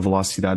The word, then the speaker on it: velocidade: Se for um shorty mais fácil, podes desafiar-te para ouvir a uma velocidade mais rápida. Velocidade. Velocidade. Não, velocidade. Velocidade. Velocidade. Não é velocity.